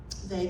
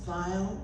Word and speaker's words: Weill: should say that um they can be pronounced three ways vile Veil or they she the family chose they um with the silent two Ls at the end um and she was